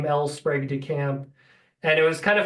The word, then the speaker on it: Sprague de Camp: guess I'll note is I've heard people say El sprag de camp and El sprog de camp and it's it was hard to find anything but I did find an interview and he pronounced his name elpr de camp and it was kind